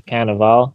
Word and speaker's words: Cannavale: Robot, Irving, played Ah, by Bobby Cannavale, which ding.